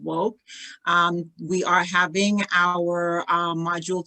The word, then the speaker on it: WOCC: the co-founder of Women of Color in Cannabis, WOCC, pronounced Woke.